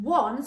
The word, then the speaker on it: once: or number one and the bit that's tricky is this o because you can hear them at the beginning but there is no in that word so we just say the word one but we can't segment